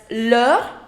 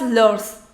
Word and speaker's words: leur: That's leur, leur and leur. Do not say it as leurs. We don't pronounce the last consonant.